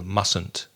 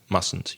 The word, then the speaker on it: mustn't: Again, as far as pronunciation is concerned, very often we don't really pronounce the T in the middle.